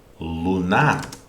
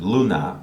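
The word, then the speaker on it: Луна: So this sound oo is this one. So this is the letter which corresponds to the sound oo in the word Russian word Luna, or in the English word moon.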